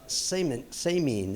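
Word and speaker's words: Semien: yeah and actually yeah it's uh sameen is the way it was actually pronounced so i thought it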